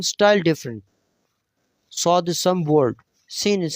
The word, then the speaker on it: ص: Swad is some word, seen is simple, light. Seen, swad. When you will pronounce the swad, then circle your give lips.